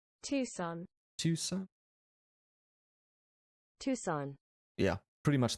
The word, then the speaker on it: Tucson: Is this Tucson?